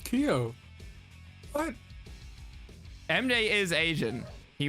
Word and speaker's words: Kyo: me to say um i assume keo is named after the samurai so it should be ko but what do i know oh i i mean i'm alright it's pronounced keo what mda is asian